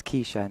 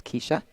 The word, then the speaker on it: Keisha: We'll see here what Keisha can do. And it's Keisha, not Kesha, like I've been saying. I apologize. It's Keisha.